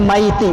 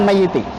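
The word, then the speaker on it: مَيِّتِ: ya Ya sudah meninggal maka disini mayyiti bacanya kalau dibaca mayyiti maka bertentangan dengan pernyataan berikutnya sampah kalau kita salat jenazah usually Allah hadzal mayyiti Nike bukan maytic itu penting ya maybe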